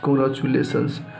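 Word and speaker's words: congratulations: आई ओ एन एस कांग्रेचुलेशंस आप बोल सकते हैं कांग्रेचुलेशंस इसको टी यू यहां पे यहां पे च का इस्तेमाल होगा यहां पे टी का उच्चारण च के रूप में तो कांग्रेचुलेशंस क्या पढ़ना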